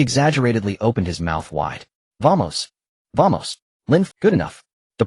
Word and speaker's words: vamos: The accent is on the first syllable. Vamos.